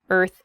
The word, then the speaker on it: Earth: to practice your pronunciation it is the word Earth Earth that R and the th sound can be difficult to pronounce together IR F Earth so this is a